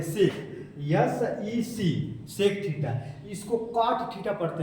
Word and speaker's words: cot: इसको कॉट theta पढ़ते हैं, कॉट COT कॉट थीटा, है ना।